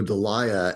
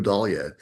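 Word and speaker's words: Dahlia: uh and I thought it was the blue dia and a I was talking about it with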